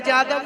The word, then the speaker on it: यदु: यदु को यादव जादव जदु जो उच्चारण है, या का ही उच्चारण यदु है। या को हम जा शब्द पे बोलते हैं, लिखा जाता है यदु और उच्चारण है उसका जदु।